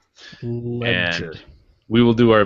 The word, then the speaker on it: Legere: John, as we have called him in the past, Legere. That is not his name. The correct pronunciation is John Ledger. Ledger.